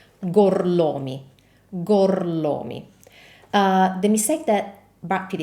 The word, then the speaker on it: Gorlomi: Brad Pitt's last name is Gorlomi, which in Italian is spelled like this. Gorlomi, Gorlomi.